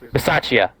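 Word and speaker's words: Bisaccia: rich versace yes yeah correct versace like my bad there's a little chia at the end um he's been a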